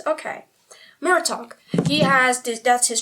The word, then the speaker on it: Murtagh: They have a pronunciation guide that isn't as complicated as the one in Lord of the Rings. Murtagh. Oh, I was completely right. Okay. Murtagh.